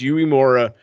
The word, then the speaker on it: Uemura: I can never pronounce his first name properly, but it's Uemura.